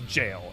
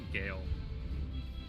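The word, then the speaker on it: gaol: I was in shadowbringers it is jail it's just an old timey way of spelling jail yeah I there was a time where I inre they pronounced as gaale oh I did too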